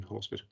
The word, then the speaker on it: Horsford: Is that the correct pronunciation, Horsford?